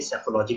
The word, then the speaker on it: Psephology: सैफोलॉजी में P silent होता है, इसलिए स्पेलिंग आप बाद में टाइप किया हुआ देख लें। उच्चारण के लिए सैफोलॉजी कहते हैं।